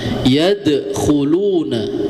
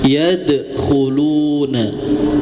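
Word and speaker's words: يَدْخُلُونَ: Yadkhuluna ya. Jadi jangan ditekan, cukup dipantulkan saja. Yadkhuluna. Nah, kalau tidak dipantulkan ya yadkhuluna. Nah, itu salah.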